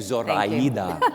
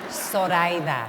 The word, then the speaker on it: Zoraida: Thank you, Zoraida. No, it would be Zoraida. Zoraida. No Z, pronounce it like an S, Zoraida.